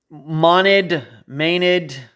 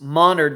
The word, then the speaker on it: Monard: I had to ask Deborah because Maynard, hard to tell, but it's Monard. There's like an R in there, even though there's no R.